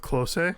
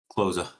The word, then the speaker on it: Klose: And correct me if I say this name wrong. The The past goal scorer uh the the past record holder was Miroslav Klose. Am I saying that correctly, German guy? Klose.